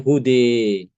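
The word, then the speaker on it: هُدًى: Namun kalau kita wakaf pada kata ee hude huda, nah ini baru ada imalah ya dibacanya hude.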